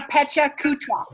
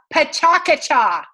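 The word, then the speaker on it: PechaKucha: at a chocolate ah let's pronounce it correctly never say it the other way it's not a Pecha Kucha it's a potaka ja and that's how you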